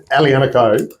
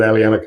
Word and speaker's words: aglianico: So this aglianico. So the key with Italian varieties is you just pronounce them fast, particularly with aglianico.